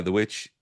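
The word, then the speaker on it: The VVitch: Um, I think The Vitch, as I try and pronounce it with its DVs, uh, the V uh, The Witch really did the same thing.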